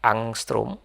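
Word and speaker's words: ångström: Kalau panjang itu nanti namanya adalah ee A ada bulutnya bacanya angstrom. Angstrom ya ini sama dengan 10^ -10 m dan begitu seterusnya.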